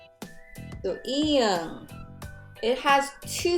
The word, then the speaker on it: 이응: Second sound, when 이응 is acting as final consonant, then it's ng sound.